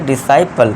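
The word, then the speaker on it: disciple: तो इसे हम फिरेंगे डिसाइपल ठीक है दोस्तों डिसाइपल साइंस डिसेंट डिसाइपल तो यहां पे हमारे जो सी है ये साइलेंट रहेगा इसे हम भगा देंगे बोलेंगे नहीं ठीक है दोस्तों आई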